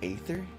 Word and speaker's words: Aether: be what uh how do you say that aether his name is aether i thought it was something else i finally